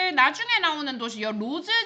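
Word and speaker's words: Rhodes: 로즈 지방에는 이거 원래 로즈라고 읽는게 맞는데 옛날에는 로데스라고 읽었을 수도 있어요. 지금은 그냥 로즈라고 읽습니다.이 사람이 첫문학적인 연구를 만들어 냈네.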